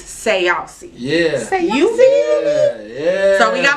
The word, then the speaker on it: Sayausee: It's not Sayausee. What is it? It's Sayausee. Sayausee. Now respect it, check it, write it down, all that stuff. It ain't no more saucy, it's Sayausee.